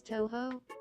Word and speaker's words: Touhou: I'm gonna have to repronounce it so they say it correctly. They'll be known as Toho.